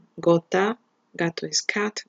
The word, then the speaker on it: gota: So we have GA, GO, or GU, that would be go, like in the word gato, in the word gota, gato is cat, gota is drop, or in the word gusano, worm.